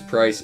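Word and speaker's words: Pryce: His name is Price. It rhymes with ice.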